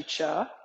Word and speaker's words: Chih: is spelled c-h-i-h and it's pronounced cha like Chuck Wagon right one of the